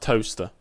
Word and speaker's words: Towcester: Towcester. It's spelt Towcester. Towcester. But it's pronounced Towcester.